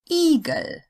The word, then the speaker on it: Igel: The I sound is long, you've heard this, when it's followed by a single consonant that would belong to the next syllable if separated. Igel.